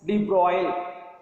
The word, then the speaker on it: de Broglie: De Broglie, correct pronunciation, de Broglie.